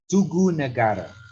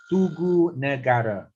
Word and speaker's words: Tugu Negara: It is so-called Tugu Negara. Tugu Negara. Tugu means 2-syllable and Negara 3-syllable.